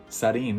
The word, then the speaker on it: sarin: Yeah, sarin, that's how the Japanese pronounce it.